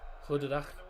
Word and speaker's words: goedendag: The G they pronounce as a H, so it's pronounced as huh, goedendag.